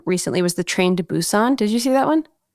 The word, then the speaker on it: Busan: just watched um recently was the train to Busan did you see that one the train to Busan no is it pronunciation of the name but b u s